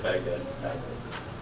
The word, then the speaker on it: Baghdad: Baghdad. The H is silent.